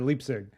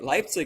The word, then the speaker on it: Leipzig: I think you're in do I say Leipzig Germany or leapsig that's correct Leipzig it is yeah but many uh is a quite common pronunciation I had I got a D in 10th Grade German but I remember if it goes e i you say the I so I Leipzig that makes sense you've